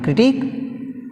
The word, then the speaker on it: critique: In critique we have stress on last syllable teak.